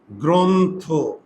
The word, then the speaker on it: গ্রন্থ: এটার উচ্চারণটা কি হবে? দেখো এটার উচ্চারণটা হবে গ্রন্থ। কেন ওকার হইলো? ইংরেজিটা ট্রান্সলেট করো। দেখো জি আর ও এন গ্রন্থ।